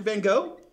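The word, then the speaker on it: Van Gogh: much time as and Van go put into a single brush stroke who van go um isn't it pronounced van go don't be like that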